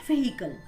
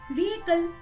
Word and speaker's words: vehicle: Most of the people pronounce it as vehicle, but it's not vehicle because H is silent in this word. The correct pronunciation of this word is vehicle.